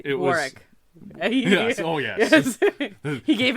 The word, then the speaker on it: Warwick: it's Warwick Davis B Warick yes oh yes he gave instructions don't pronounce the w r arck no the